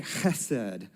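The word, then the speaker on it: חֶסֶד: here is actually the hebrew word hassen and you got to have the in there to say it right so go ahead with me can you say khased there you go very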